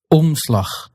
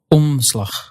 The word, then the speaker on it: omslag: You'll just let it affect the vowel. It's on rather than o. But you won't bring your tongue or lips all the way into that N or M position. You'll just skip that and go straight to the next sound.